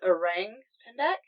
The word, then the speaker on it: orang pendek: It's pronounced orang pendek. Orang pendek, yeah.